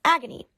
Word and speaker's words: Agni: demons next we have agony which is literally pronounced agony he is believed to